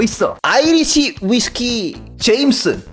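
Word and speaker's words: Jameson: 더 있어 아이리시 위스키 제임슨 원래 발음은 제머슨 이더라고 한국 사람이 읽을 때는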